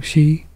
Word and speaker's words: Xi: Xi?